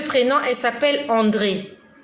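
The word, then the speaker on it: Andrée: Et parmi ces 2 prénoms, elle s'appelle André. André, A-N-D-R, E accent aigu, E muet. André.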